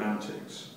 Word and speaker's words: Antix: believe more and they're more openminded with um Antics Productions that's how you pronounce it yeah um I know that you